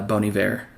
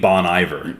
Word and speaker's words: Bon Iver: into my head was uh bony ver so it's another another you mean Bon Iver yeah if you uncultured well I didn't even know that's how you pronounced it until you and I